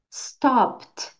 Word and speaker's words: stopped: e por último stopped stopped Pararam a pronúncia desse verbo é Então esse e D no final finge que a letra T fala bem Sutil stop stop tudo bem